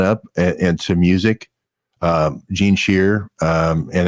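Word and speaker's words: Scheer: you bring that up into music uh Gene shear and it's spelled s-c-h-e-e-r a double ER Gene cheer and American Anthem I believe is the title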